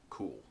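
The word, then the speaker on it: Kühl: This brand name most people don't even try to pronounce, but it's pretty easily pronounced as Cool.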